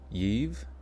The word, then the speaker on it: Yves: you say this name it's french eve eve okay eve okay so y-v-e-s is a name pronounced eve that's interesting oh yeah